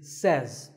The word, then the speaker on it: says: Word number two is says. This word is commonly mispronounced by people learning English as says. But remember, I say, you say, but he or she says.